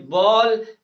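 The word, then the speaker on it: ball: तो एम A double L यानी कोई भी वर्ड्स हो और उस वर्ड्स में ए वोवेल वर्ड्स हो, ए के बाद में डबल एल आ जाए तो उसे हम लोग औ का उच्चारण करते हैं।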